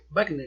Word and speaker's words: Wagner: Más tarde, el mismo Wagner apuntaló a esta convicción. Wagner, ¿no? No, Wagner. Por eso, pero se pronunciaría Wagner. Ay, quién sabe. Está con un W.